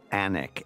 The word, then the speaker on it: Alnwick: This is such a beautiful location in the north, a place called Alnwick, A-L-Y-N-W-I-C-K. It's the strangest spelling for that pronunciation.